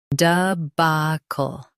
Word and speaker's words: debacle: Debacle, debacle. Stress, ba. Keep duh soft and end with cl clearly.